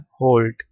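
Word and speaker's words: halt: Pronounce ऐसे करना है। होल्ट लेकिन लिखना ऐसे है। एच ए एल टी।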